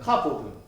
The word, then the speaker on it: 카보드: 근데 영적인 뜻으로 발전하면 이 카바드가 카보드로 바뀝니다. 카보드. 잘 보십시오. 세 글자인데 이 세 글자가 되는데 세 글자 안에 한 글자가 추가되죠. 이것이 히브리어 바우인데 카바드 단어 안에 이 사이에 바우를 첨가해서 발음이 카보드로 바뀝니다.